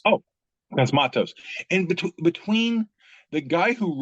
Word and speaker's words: Cosmatos: Cosmatos. Oh, Cosmatos.